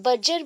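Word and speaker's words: Berger: ये खाने वाला बर्गर नहीं है, दैट इज, आप लोग ऐसे ही बोल सकते हैं, बर्जर भी बोल सकते हो। बर्जर, अगर प्रोनाउंसिएशन में आपको प्रॉब्लम हो रहा है, दैट इज बर्गर आप बोल सकते हो स्पेलिंग के अकॉर्डिंग, अदरवाइज बर्जर।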